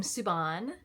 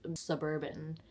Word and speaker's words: Suban: say my name ever people think that my Instagram name like suban brn is Suburban like where did you get Suburban from suban suban let's practice it together suban suban like should